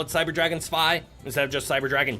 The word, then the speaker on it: Zwei: So B, it's pronounced Cyber Dragon Spy because it's German for 2.